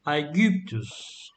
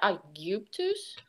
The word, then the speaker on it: Aegyptus: I guptus? No, Aegyptus. You. Gib, and pronounce the G like a G in. Let me think of like gate, yeah.